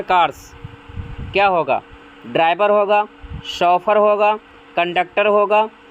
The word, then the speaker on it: chauffeur: ध्यान रखना फ्रेंड्स, इसकी स्पेलिंग इम्पॉर्टेंट है। शॉफर, CHAUFFEUR, शॉफर।